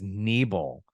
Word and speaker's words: Nebel: My last name is spelled Nebel. It's not Nubble, it's Nebel.